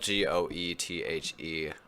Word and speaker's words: Goethe: that high school German yep yep it's spelled goe th e buts pronounced Goethe until this book is loosely autobiographical